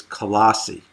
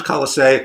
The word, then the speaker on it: Colossae: scholars what they say they say that it's colossi or call a C or call a semi or in other words they don't know it's one of these ways of pronouncing it so I'm just gonna say most of the times kala say occasionally you'll hear me say colossi I'm talking about the same city and basically it's a